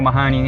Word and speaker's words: Mahony: I've got Wayne Mahony with me today in the car. Now, is it Mahony or Mahony? Well, it's Irish, but it's actually Mahony. It is Mahony.